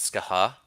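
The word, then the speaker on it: Scáthach: troll was fantastic we did not have the ska ha and I'm gonna just take this opportunity to apologize for all the times that Simon and I have said it's gothic I recently discovered it's pronounced ska ha I didn't know that French pronunciation man it's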